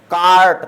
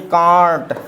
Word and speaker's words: cart: ये क्या, CART, कार्ट पढ़ेंगे, कार्ट पढ़ेंगे, ना कि कांट, है ना, ये गलत हो जाएगा, कार्ट सही रहेगा हमारा उच्चारण, ठीक है ना।